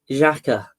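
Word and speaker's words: Xhaka: Granite Jaca.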